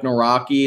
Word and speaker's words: Nawrocki: last name wrong Mike Nawrocki it's like na wroc ki and they together essentially